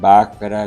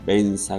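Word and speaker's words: Vajra: El mantra que yo recomiendo a mis estudiantes es: Om Aum Bakra Guru Padma Siddhi Hum, que los tibetanos pronuncian Om Ahum Bensa Guru Pema Siddhi Hum.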